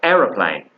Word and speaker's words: aeroplane: airplane that's American or aeroplane which is British it pronounced slightly different like you know because it's arrow as opposed to air but they're both correct